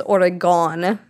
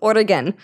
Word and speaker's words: Oregon: even in the states they can't even pronounce origan they think it's origon or something that's how I hear it all the time and it's Oregan just so everyone is